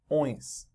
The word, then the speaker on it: ões: most common plural, and it's pronounced oins. Oins. I think the closest word in English that will guide you is the sound a pig makes. A pig oinks, oinks. The less K, the better, though.